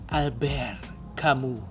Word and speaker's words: Albert Camus: But he's French, so it's pronounced as Albert Kamu.